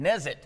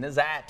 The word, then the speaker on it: Nezit: Brett, now how do you say Nezit. it? Nezit. I think I was calling him Nezat or Nezot.